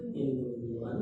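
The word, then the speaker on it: هند: Hinun hindun bacanya kalian juga bacanya kan hindun kan alasannya sama hurufnya tiga, harakatnya cuma dua ini sama ini nun dianggap qasar maka tanwinnya dianggap mewakili nun ini alasan yang dicari-cari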